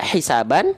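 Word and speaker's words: حسابا: Dibacanya menjadi harokat A-nya, N-nya hilang, dibaca menjadi 2 harokat. Hisaba. Jadi bukan dibaca hisaban lagi, tapi hisaba.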